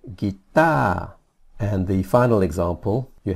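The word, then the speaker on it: กีตาร์: You don't pronounce the R at the end. You just say guitar.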